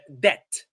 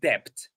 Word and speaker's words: debt: Uh uh debt, not depth.